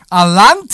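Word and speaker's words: Allanté: Alante, right?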